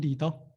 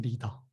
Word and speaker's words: 리더: I give the example with a leader, but leader is exactly the same pronunciation as English with the Korean as well. So leader, leader. So trustful leader, you can say 믿음직한 리더. 믿음직한 리더.